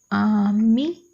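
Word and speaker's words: ami: MI का pronunciation करेंगे, तो इसका प्रोनाउंसिएशन ऑ ना रहते हुए हो जाएगा आमी, आमी माने फ्रेंड।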